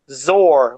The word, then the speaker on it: Zor: a lot of these, you hear Zor like a roar.